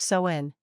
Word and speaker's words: Samhain: back to the ancient Celtic Festival of saen pronounced soen the selts who lived 2,000 years ago mostly